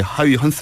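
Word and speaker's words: Huygens: 감독 게이 쪄 주면 네덜란드 발음으로 바꿔서 있게 하위 헌트 라고 불러주는 거에요 2분이 뭐냐면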